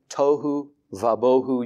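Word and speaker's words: תֹהוּ וָבֹהוּ: it and it flows toou Vu or W if you use the newer pronunciations but I'm I I think it was closer with the v's and so that's how I say it toou vaboh you can hear the rhyming even in the Hebrew language and that you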